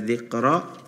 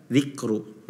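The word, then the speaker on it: ذكرى: Al-Mudaththir, ma hiya illa dzikra, tadi dibacanya wa ma huwa. Ya, wa ma huwa illa dzikra. Terus juga di kalimat yang sama, kalimat illa dzikronya tadi dibaca dzikru. Nah, itu harus diperhatikan. Yang pertama pada kalimat ya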